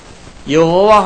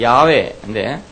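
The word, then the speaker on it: 야훼: 근데 창세기 2장에 가면 여호와 하나님 이렇게 말이 나 정확한 발음을 하면 야외인데 영어로는 이제 제호바 이렇게 말하고 우리말로는 여호와 이렇게 번역했습니다이 말은 나는 무엇이다이는 뭐다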